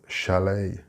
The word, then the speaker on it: chalet: The same for chalet. Also note the CH is a sh sound and not a ch sound.